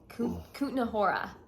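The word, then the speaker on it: Kutná Hora: actually left the city and we went to Kutna Hora. Okay. That's how you pronounce it.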